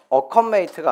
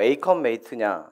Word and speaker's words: 에이컴메이트: 근데 보통 이게 어컴퍼니고 메이트의 합성인데 왜 어 어컨 메이트가 아니고 에이컨 메이트 네라고 생각하실 텐데요 아 저도 뭐 사실 저